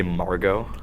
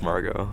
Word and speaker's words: Margot Robbie: unlimited money hack um did you really just say Margo Margo Robbie oh everyone pronounces it Margot around me I don't know why I've always PR to Margo But like everyone has told me like oh marget Robbie no don't do that wrong it's Margo Margo Robbie